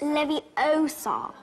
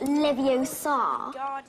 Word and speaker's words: Leviosa: someone's eye out besides you're saying it wrong it's Levi Oar not Levi Oar you do it then